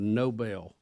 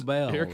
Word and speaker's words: Nobel: she's going to pronounce it like the street that was near where we all grew up. Yeah. Noble Street. so here comes Nobel.